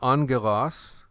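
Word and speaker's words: ἄγγελος: smooth good by the way on this word angelos this is alpha gamma gamma when you have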